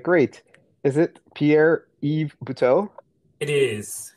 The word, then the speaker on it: Pierre-Yves Buteau: Is it Pierre-Yves Buteau? It is, correct. All right, yeah, I asked my wife how to pronounce it.